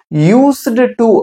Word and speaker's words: used to: used to அப்படின்னு நம்ம வாசிக்க கூடாது. நம்ம எப்படி வாசிக்கணும் அப்படின்னா used to. அந்த D வந்து அப்படி சைலண்ட் ஆயிரும். Okay, so you should not pronounce this ed.